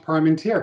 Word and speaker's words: Parmentier: bye-bye take care bye-bye is it uh is your is it parmentier it's pronounced prime and tear congratulations on the first